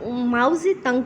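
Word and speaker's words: Mao Zedong: माओ जे तंग, माओ जे में जो माओ तो सही है, टी है, सी में जो है वो उसमें टी साइलेंट है, और ऐसी जो है वो जी की आवाज़ से का, और टी जो एन जी तंग।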